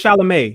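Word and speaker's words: Chalamet: but I don't think no it's shalam it's shalam sha what sh French no no I say it right his name is Timothy shalam is his name he's shalam shalam e shalam oh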